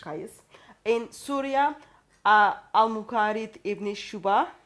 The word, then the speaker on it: Qais: For example, we know in Medina, Zayd bin Thabit, in Mecca, Abdullah bin Saib, in Basra, Amir ibn Abdul Quyas. Sorry for the pronunciation. Qais.